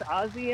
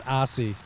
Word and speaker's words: Ossie: that whole conversation with ozzy and the umpires okay it's ossie not ozzy you did not talk to ozzy okay sure you know